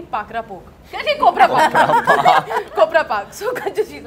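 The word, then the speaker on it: Kopra Pak: Pakra Park. Keep, keep. Mithai hai, Gujarati mithai, usko hum log pronounce hi nahi kar pa rahe the, aur uske liye hum itna hase. Kopra Park hota hai.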